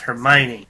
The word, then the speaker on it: Hermione: these stupid British names hermi but you say it fast Hermione by the end of